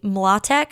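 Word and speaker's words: Mlotek: was No Fault by Haley Matek, I think is how you say her name. M L O T E K.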